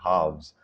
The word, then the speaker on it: halves: If I pronounce half as singular, then the plural I will be pronouncing halves. I will be making sure to emphasize the V sound in the word because